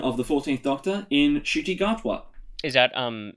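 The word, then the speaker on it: Ncuti Gatwa: the 14th doctor in shitty gartwa is that um hey that's how you pronounce it i believe that's how it's i believe i've seen interviews i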